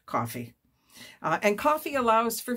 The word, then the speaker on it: Ko-fi: Coffee k- fi and I've decided that's how it said coffee I different people pronounce it different ways I'm going to stick with coffee uh and coffee allows